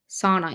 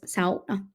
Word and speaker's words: sauna: It's not sauna, it's sauna.